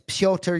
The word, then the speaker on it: Petr: It's Petr Yan. Petr. Not like Coach Ray Longo saying Peter Yan, you know?